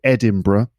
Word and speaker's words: Edinburgh: I know Edinburgh, and that's how we pronounce it, Edinburgh.